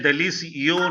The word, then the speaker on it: délicieux: No, not that much rounding. Not that much flat. And not making a sound of N.